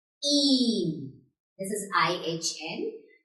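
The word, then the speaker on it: ihn: H आ रहा है after the vowel, like here. So this will be pronounced long. Een. This is I-H-N. Een.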